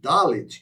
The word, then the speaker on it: Dalet: Então, quando você lê Delet ao invés de Dalet, que é a pronúncia da letra Dalet, quando você lê Delet,